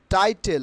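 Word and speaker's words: title: কোনো একটি Facebook page অথবা ইউটিউব চ্যানেলে কোনো একটি পোস্ট আপলোড করতে গেলে আমাদেরকে বলতে হয় যে ওইখানে টাইটেল দাও, নট টাইটেল। কি উচ্চারণ হবে? টাইটল, টাইটল।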